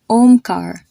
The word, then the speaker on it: Omkar: O is pronounced the exact same way you would say the letter O, like in the word floral or coral. Like you have the name Omkar, or the name Sonali, or the name Komal.